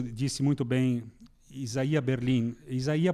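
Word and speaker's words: Isaiah: muito bem isaia Berlin isaí porque é é a pronúncia correta não é isaia Berlin não e o russo né como a gente sabe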